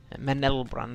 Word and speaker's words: Menelbrand: Menelbrand, there's an L in the middle of that, FJ.